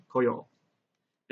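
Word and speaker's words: 来よう: So please notice here that the pronunciation of this character changes from ku to ko. But the way it's written is the exact same, so you'll just have to kind of remember.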